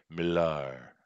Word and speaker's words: Millar: Okay, and I do just to correct you, Denelli, I do believe it's pronounced Millar.